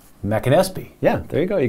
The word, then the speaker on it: McAnespy: Jack, McAnespy.